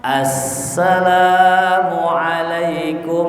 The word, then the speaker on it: Assalamualaikum: Salam itu harus ada alif lamnya. Assalamualaikum warahmatullah. Jadi kalau besok ada imam, ya kita denger nih bacanya salam, nggak pakai as, ingetin, mam, tadi ente sholat kayaknya nggak baca as dah tadi, cuman assalamualaikum.